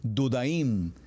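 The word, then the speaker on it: דודאים: muy interesante dijimos que su pronunciación en hebreo es dudaim y se escribe Dale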